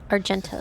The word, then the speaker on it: Argenta: Argenta, that's how it's pronounced.